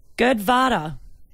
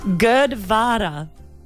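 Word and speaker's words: gurdwara: something the diplococcus cozy good vada yep you know the place of worship its GU rd w ara but they decided to turn that W into a V that's good of fun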